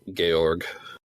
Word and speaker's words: Georg: and getting that Alliance George without a e and looking at the uh Katakana it's pronounced gorg gorg Nice gay ogre Prime